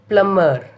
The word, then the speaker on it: plumber: Next one, plumber. P-L-U-M-B-E-R in spelling, but we are pronouncing as a plumber.